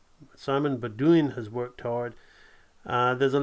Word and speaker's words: Baudouin: Simon, he told me how to pronounce it, Baudouin. Simon Baudouin has worked hard.